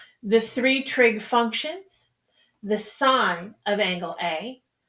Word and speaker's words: sin: three trig functions the sign of angle a written s i n or sin is actually pronounced sign the angle that we're